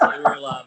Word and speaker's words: Uralla: It's actually pronounced Uralla, but yeah, they don't say that.